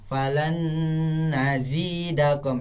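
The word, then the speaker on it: فلن نزيدكم: Nun mati itu dihilangkan dan dibaca nun tasdidnya. Falan nazidakum. Falan nazidakum, itu sebenarnya cara bacanya.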